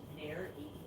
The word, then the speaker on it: nares: John says fish nose holes are called nares, pronounced nares.